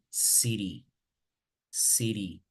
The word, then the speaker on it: city: So either you say water, like British, or when you have T in the middle of two vowels, like in the case of water, it's in the middle of A and E. So you will pronounce water, water, water, como una R, right? Como en la palabra pera. And here the same, you will say city, city, pickle, pickle, all right?